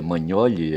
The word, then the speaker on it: Magnoli: O Demétrio Manholle, o Demétrio Manholi, pelo nome dele, Manholi, escreve Magnoli, tá certo? Mas se pronuncia Manhole é italiano.